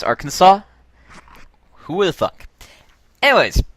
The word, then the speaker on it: Arkansas: It's pronounced Arkansas?